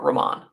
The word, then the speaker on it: Romain: I definitely don't think it's Romaine. I've never heard him say it that way.